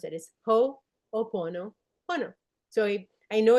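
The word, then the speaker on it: Hoʻoponopono: a lot of people say how do you pronounce it is ho pono po.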